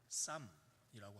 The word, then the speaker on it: Psalm: 앞에 있는 P는 묵음 처리가 돼서 발음할 때 쌈이라고 합니다.